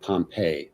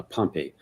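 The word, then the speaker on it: Pompey: uh he was assassinated in the theater of Pompeii or actually it's pronounced uh Pompeii what yes he was assassinated in in a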